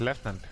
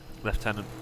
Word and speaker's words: lieutenant: So, and you pronounce it lieutenant. Lieutenant. Lieutenant, yeah. Like Lieutenant Colonel.